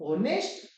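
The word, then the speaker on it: honest: क्या के बीच वाले, मगर ये एच वाला जो वर्ड है ये क्या है, ये साइलेंट मोड में है, साइलेंट मोड में है। तो कहां से शुरू होगा भाई, तो होगा ओ से शुरू।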